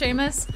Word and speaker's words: Seamus: It is pronounced Seamus. I feel like I remembered hearing it that way, and Seamus sounds like a name, and Samus does not really sound like a name, so...